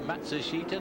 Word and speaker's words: Matsushita: But it's 4 syllables as far as he's concerned, and 3 syllables as far as the family and the sponsors concerned.